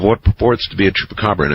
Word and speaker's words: Chupacabra: Last night someone butchered the pronunciation of Chupacabra in an interesting way. I believe he called it chupacargo.